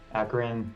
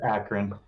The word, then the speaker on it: Akron: i'm sam weiss i'm the captain of the akron team uh i was also informed by my teammate that it was being mispronounced downstream a little bit so just for the record it's akron that's what i thought but uh beowulf went